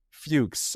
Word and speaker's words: Fuchs: I was like, "Jason Fuchs." I'm going to guess is how you pronounce that name.